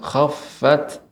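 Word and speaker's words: خَفَّتْ: Ya, Adik, sebelumnya Ustaz akan bertanya dulu memastikan ketika pengucapan khaffat apakah sudah diberikan hamznya, ada aliran udara khaffat.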